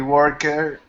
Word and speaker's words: worked: you say he he worked hard yesterday okay pronunciation again worked T sound work K T worked because he worked hard